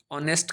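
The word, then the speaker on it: honest: लेकिन आप हम उसको क्या प्रोनाउंस करते हैं? अवर अ ऑनेस्ट का ऑनेस्ट उसी प्रकार से आइसक्रीम का अ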